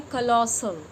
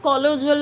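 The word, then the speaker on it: colossal: Pronunciation आप याद रखना, इसको पढ़ते हैं कलॉसल। कलॉसल काजल आपने सुना होगा, एडवर्टीजमेंट में भी होता है, तो इट्स नॉट कॉलोजल and something else, आप इसको पढ़ेंगे कलॉसल, सा, ठीक है।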